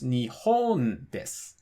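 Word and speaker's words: 日本: So nihon has the accent on the second mora, which is also the second to last mora, so it's nihon desu.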